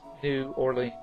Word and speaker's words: New Orleans: know might say toilet otherwise it's toilet uh New Orleans although when I do speak to my colleagues down there I do say New Orleans nland you know but it it is New Orleans it's two words uh pan uh pean is